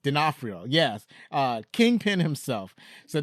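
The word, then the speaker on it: D'Onofrio: I said oh okay Vincent denafo denafo God that's how you say his name I knew how to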